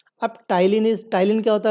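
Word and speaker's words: ptyalin: तो salivary amylase को हम लोग क्या बोलते हैं टाइलिन, राइट, पी इसमें साइलेंट है, इसको बोलते हैं टाइलिन, राइट।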